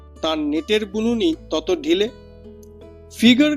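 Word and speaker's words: figure: নেটের বুলুনি তত ঢিলে ফিগার কথাটার ফরাসি উচ্চারণ ফিগুর অর্থাৎ মুখের চেহারা।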